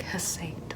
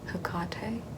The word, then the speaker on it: Hecate: to be told that it's a hard C and not a soft one like Hesate, which is also something people tend to call me as well.